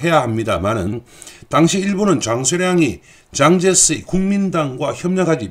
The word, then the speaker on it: 장제스: 후일담입니다만 리위안홍은 그 이후에 장제스, 우리 발음으로는 장개석의 배려를 받아서 상해에 있는 영국 조계로 가서 마지막까지 편안하게 살다 죽었습니다.